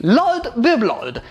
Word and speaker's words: Lord Broblord: It's Lord Broblord, and you have to say it exactly like this, or I will cry.